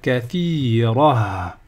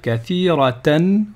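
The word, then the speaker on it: كثيرة: Donc ici, si je m'arrête, je vais dire kathira. Kathira. Ok? Par contre, si je continue, je vais dire kathiratan wa.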